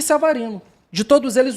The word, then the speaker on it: Savarino: Samarino e Mateus Martins farinam as pontas, só que o Samarino jogou de 10. Savarino, eu tenho Savarino a pronúncia correta.